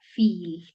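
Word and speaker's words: viel: Esto lo voy a pronunciar como si tuviera doble i, como cuando en español decimos sí. Este, en este ejemplo lo vamos a leer como esta palabra se pronuncia fil.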